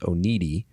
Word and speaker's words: Oneida: So this holler that my family's from down in Clay County is Crane Branch Road outside of Oneida, Kentucky, which apparently they pronounced Oneida, even though it's not spelled anywhere near that.